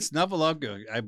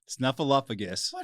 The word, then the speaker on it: Snuffleupagus: Now I said Snuffleupagus, but I say his name wrong. Snuffleupagus.